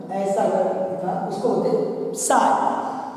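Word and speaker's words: psi: अगर दिखा उसको बोलते साय पी साइलेंट है तो उसका प्रोनाउंसिएशन साय ही करते हैं साय।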